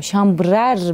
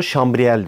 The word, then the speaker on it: chambre à air: Şambrer ne demek ve nasıl okunuyor? Şambrer mi? Şambrer. Şambrer. Hava odacığı demek Fransızcada. Ama biz ona şambriel diyoruz.